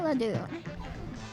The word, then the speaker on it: Ledoux: Yes, as in Mountain Dew. Sensei Ledoux.